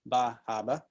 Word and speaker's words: Bar Harbor: is the busy tourist town of bar harbor pronounced ba haba and there are you can see one of